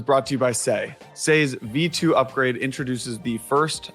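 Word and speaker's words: Sei: on X say Network say is spelled s EI go follow say onx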